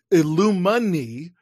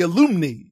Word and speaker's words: alumni: they're illuminated but they're not the illumina illumini they're the alumni yeah i know i wasn't sure how to say it in my in my head i was like i feel like i'm i'm pronouncing this wrong mentally yeah it's one fewer syllable than i thought it should have i'm gonna be honest